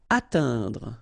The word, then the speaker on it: atteindre: Atteindre. So remember when you combine this E-I-N together, you get the sound un. Atteindre, atteindre. Annoncer.